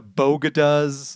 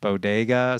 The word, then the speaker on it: bodega: talking about uh the bogo does of the bronx uh i she meant bodega i guess and i'm not remotely a new yorker uh but i know that it's pronounced bodega so i don't i